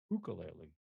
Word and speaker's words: ukulele: to build your own ukulele or I should say asked as the purists say the ukulele right supposedly is the correct way to say it you can build your